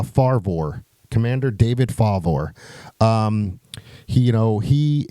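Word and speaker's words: Fravor: his name is Commander how do you pronounce it Commander favor almost like favor it's uh farvor Commander David favor um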